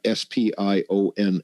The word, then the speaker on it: SPION: we've been using uh s p i o n s which would be pronounced spion which stands for super paramagnetic iron oxide particle there's so much that